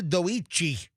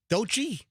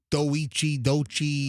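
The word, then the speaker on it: Doechii: You pronounced Dochi's name wrong, she is from Tampa. How do I pronounce Product of Blake High School. What did I say? Doichi. Is it I don't. How do you say it? I forget. Dochi? I think so.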